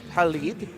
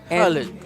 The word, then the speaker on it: Khalid: Yeah, Khalid. And the pronunciation is, he was trying to teach me the pronunciation. It's not the way that we usually say it. It's like a Khalid.